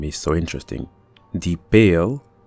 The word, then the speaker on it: Pail: The Pail, that is pronounced in this context as pile, is probably a reference to pile, like when you have a mass of things heaped together.